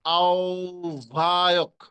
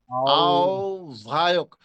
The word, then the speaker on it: আহ্বায়ক: এখানে উচ্চারণটা হবে আহ্বায়ক, আহ্বায়ক। প্রথম বটা ও এর মতো হয়ে যাবে, প্রথম বটা কিসের মতো হয়ে যাবে?